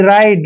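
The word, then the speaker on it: ride: को हम र पढ़ते हैं और आईडीई का उच्चारण आइड करेंगे यानी कि राइड राइड मतलब सवारी करना ठीक है ना नेक्स्ट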